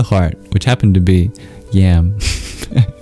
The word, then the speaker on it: yam: which happened to be yam. Although it's not pronounced like that despite it being spelled yam.